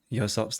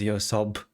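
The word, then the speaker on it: 요섭: Um, and it really bothers me that they've romanized Yosop's name as Yosob. It just it just annoys me. Um, it's a P at the end.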